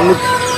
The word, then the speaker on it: NYX: Mix Bird NYX, dari bacanya Mix.